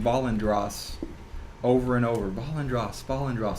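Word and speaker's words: Valandras: Do you want me to spell that for you? Yes. Okay. Yeah. V-A-L-A-N-D-R-A-S. Valendros.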